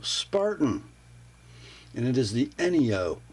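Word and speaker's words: Enyo: and it is the any o I believe I've seen it phonetically spelled out that way anyo a little fixed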